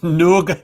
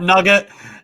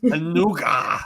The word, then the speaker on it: nougat: Sorry, I've just seen the Zornies with a super chat saying it's Noug, like the French accent, not nugget. Love us daily. Yeah. Nougat.